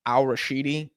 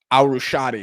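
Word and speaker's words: Al-Rushaidi: Al- Rashidi. Let me let me not get his name wrong. Al- Rushadi, excuse me.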